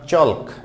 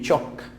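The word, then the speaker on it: chalk: তারপর হচ্ছে চক, হ্যাঁ অনেকে বলে চলক, নট চলক, নট চলক, it will be চক, চক, চক।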